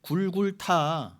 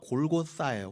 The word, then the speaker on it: 골고다: 골고다에 섰잖아요. 골고다의 뜻이 뭐예요? 굴굴타. 굴굴타는 히브리어고 그것의 아람어가 골고사예요. 골고다. 근데 골고다를 그냥 그대로 헬라어로 음역한 게 골고사예요. 그 다가 정확히는 에스타 그 번데기 발음이니까 골고사.